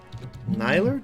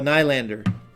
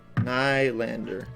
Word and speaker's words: Nylander: Nyler, did I get that right? Harry's last name is pronounced B-Ruff. B-Ruff? Yeah. So rough. B-Ruff. Yeah. B-Ruff. Really? Interesting. What is it? Oh, Nylander. Nylander. Like Zoolander.